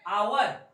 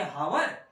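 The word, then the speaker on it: hour: का प्रयोग होता है जैसे एग्जांपल देखिए आवर आवर का मतलब लिखते क्या है दोस्तों एच ओ यू आर तो क्या पढ़ेंगे हावर हावर पढ़ेंगे रंग होगा हमको एच साइलेंट करना है उस जगह पे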